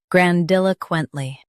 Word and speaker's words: grandiloquently: Stress dil and keep quent smooth.